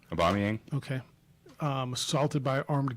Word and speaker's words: Aubameyang: Aubameyang.